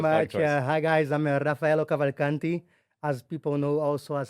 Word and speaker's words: Rafaello Cavalcanti: himself because I don't want to get your name wrong. Welcome to Elyon Dubai. Thank you very the much. podcast. Hi guys, I'm Rafaello Cavalcanti, as people know also as.